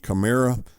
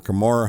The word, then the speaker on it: Kamara: that's going to be chimera or kamara however you want to pronounce it and what he runs